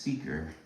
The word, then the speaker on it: SEACUR: That's pronounced seeker.